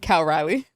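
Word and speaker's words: Cal Raleigh: Cal Riley.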